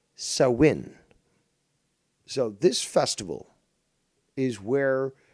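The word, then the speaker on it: Samhain: creation of Christianity and although spelled s-a-m-h-a-i-n is pronounced sowin so this Festival is where Halloween gets its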